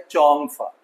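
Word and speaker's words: Chongfa: इसका जो असल नाम है वो है चोंगफा। This is Chinese name but ये है कि हमारे यहां हम पाकिस्तानी इस एक्सेंट को अपनी तरह से प्रोनाउंस करते हैं। तो पाकिस्तान के हिसाब से लोग जोंफा भी बोल देते हैं।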